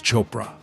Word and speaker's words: Chopra: My name starts with a P. It's Chopra, like Oprah.